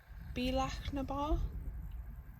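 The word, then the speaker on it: Bealach na Bà: at Apple cross doing the beak naar that's is how you say it big windy road the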